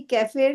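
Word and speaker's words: kefir: आते है वर्ड की कैफेयर की क्या स्पेलिंग के ई एफ आई आर इसको कुछ लोग की फर बोलते हैं कुछ कैफे बोलते हैं ऐसे चलता है सब अपने-अपने हिसाब से बोलते हैं जो भी है पर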